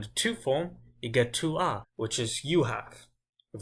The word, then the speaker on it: tu as: For example, here, tu as, I'm only really saying the A explicitly. You can't really hear an S.